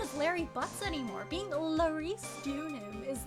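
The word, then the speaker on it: Laurice Deauxnim: Being Larice Dunham is like big fancy.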